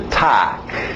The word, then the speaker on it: talk: Continuando, mais um verbo que tem o L, mas o L é mudo. Okay? Então, escrita aí, vai nessa escrita. To talk.